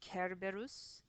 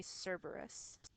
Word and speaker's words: Cerberus: in latin so in latin his name is kerberus in english we would say cerberus in latin kerberos in english cerberus another pronunciation note is with the letter v the